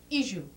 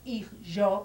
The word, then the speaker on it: hijo: Well, we pronounce that J, je, so it comes out iju. We from Rhodes pronounce that O, u, so it's not ijo, but iju.